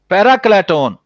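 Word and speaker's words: παράκλητον: ठीक, पैराक्लेटोन, ये इसकी यही प्रोनाउंसिएशन है।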